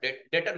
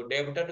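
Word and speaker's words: debtor: डेटर बोलते हैं इसको, डेब्टर कई लोग नहीं बोलते हैं, डेटर बोलते हैं। हाँ, बी साइलेंट हो जाता है।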